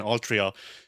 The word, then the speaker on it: Altria: And so the the official pronunciation for it is uh once again Altria.